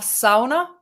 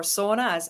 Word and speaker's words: sauna: And so, yeah, we have sauna, which is, well, or sauna, as you guys pronounce it, which was the original Finnish church.